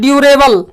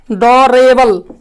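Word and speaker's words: durable: फिर उसी तरह से हम लोग बोलते हैं ड्यूरेबल, डोरेबल, डोरेबल, है ना, इसका उच्चारण हम लोग बोलते हैं ड्यूरेबल, ड्यूरेबल। ड्यूरेबल का अर्थ क्या होता है? टिकाऊ। कहीं कहीं इसे हम लोग डोरेबल भी बोलते हैं, लेकिन होता है इसका ड्यूरेबल। तो इस तरह से यू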